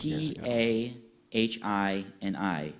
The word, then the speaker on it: tahini: Tah replaced aah sagore the Wes award couple t a h i n i tahini correct just say it quickly there's Sam